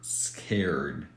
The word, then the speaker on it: scared: I'm scared of hurts the word in the present form is scare so it ends in an R sound which is a voiced consonant so we would have to use rule number two here scared yeah some stuff